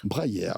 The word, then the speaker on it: Breyer: Au Breyer, je ne sais pas comment on prononce. Breyer. J'avais bon dès le premier coup.